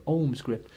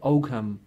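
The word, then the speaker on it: Ogham: ohms gripped like there Alma's and resistance or ohms grip but it's English people pronounce it oh come and it basically comes from oak ma the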